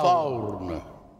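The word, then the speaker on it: four: Allora, qua sta scritto forne, con questa O grossa e l'accento circonflesso, caro Vincenzo. Però si dice faun. Faurn. Faurn. Che sembra quasi uno scozzese.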